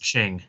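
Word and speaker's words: Qing: oust the oh shoot i didn't look up how to pronounce it i think it's pronounced ching so yes they were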